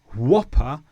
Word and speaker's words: whopper: But not in whopper and whoosh. So there are some examples where we do pronounce the W before the H.